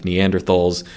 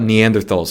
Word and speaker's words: Neanderthals: typically they call them neanderthals that is pronouncing the th is a t because it's based on the german pronunciation but i use the